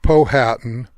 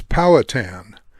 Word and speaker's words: Powhatan: canoe and no matter how many times we mispronounce it it is not poh hatan or pow Hatten it's powatan named after the 17th century Indian Chief and